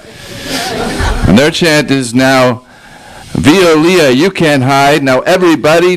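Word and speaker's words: Veolia: Violia. We call Viol. We pronounce it wrong because it's a French company that's pronounced Violia.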